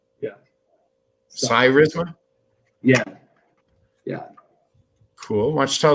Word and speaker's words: Cyrisma: uh security so uh this company is it charisma is how it's pronounced yeah cyrisma yeah yeah cool watch tell us a little